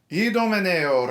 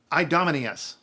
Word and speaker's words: Idomeneo: Idomeneo, re di Creta. Idomeneo, king of Crete. Idomeneo, re di Creta. Trust me, you don't want to say the English pronunciation of this king's name.